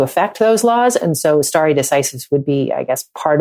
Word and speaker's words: stare decisis: importance of I don't even know how to pronounce the word. Stare decisis. Stare decisis.